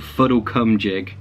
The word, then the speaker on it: Fuddlecumjig: Okay, and then we get a place called Fuddlecumjig. I guess it's pronounced Fuddlecumjig, but I'm just like, Fuddlecumjig.